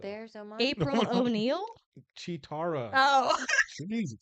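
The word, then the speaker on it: Cheetara: Chitara. Oh. Jesus. Spell it for me because I CH. It's like cheetah and then Tara.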